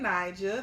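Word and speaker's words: Knigel: It's your girl Nigel. That's Nigel with a K. The K is silent, period.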